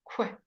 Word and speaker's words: quick: quite it's fairly easy quick quick the qu sound is always occur where sound quick quick equipment and